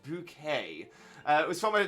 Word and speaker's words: Bouquet: sag uh is Gator the daughter of Mrs bucket it's bouquet it's bouquet good reference there please